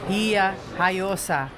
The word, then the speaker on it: Villajoyosa: So I've just gone on to a pronunciation website to find out how you say Villajoyosa, and it's Villajoyosa. Very similar to what I've been saying all day.